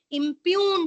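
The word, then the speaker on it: impugned: just note it down impune order i m p u g g is silent NE e d impune order yes I'm repeating impune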